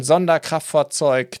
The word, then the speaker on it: Sonderkraftfahrzeug: That is, and I have to pronounce this in German, Sonderkraftfahrzeug 251 in version D, which is basically one of the, I guess, most well-known German half-tracks during the war.